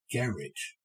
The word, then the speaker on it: garage: As the advert will shortly be at pains to remind you, that first word in British English is pronounced garage, hence the pun, which I'm